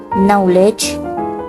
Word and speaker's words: knowledge: then the letter k the letter k is silent When it comes before n for example my now kne knowledge not and not and